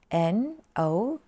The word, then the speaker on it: know: ฮะ ก็ ต้อง K N O W I know เวลา ออก เสียง คือ No นะ คะ No ฉัน ไม่ รู้ ก็